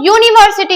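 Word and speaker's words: university: तो यूनिवर्सिटी, यहाँ पे यूनिवर्सिटी जो है वो नाउन वर्ड है, पर यू का प्रोनाउंसिएशन यहाँ पे या हो रहा है, तो या के लिए ए का यूज किया जाएगा।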